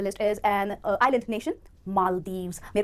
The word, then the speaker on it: Maldives: दो syllables हैं, इस word को आप जब break करोगे तो दो part पे break करोगे, पहला syllable है mall और दूसरा है Deves, जिसमें जो stress आएगा वो पहले syllable पर आएगा, पहले syllable को आपको बोलना है mall और फिर Deves, Maldives.